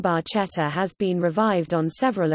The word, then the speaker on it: barchetta: Barchetta, Italian pronunciation, barchetta, which translates as little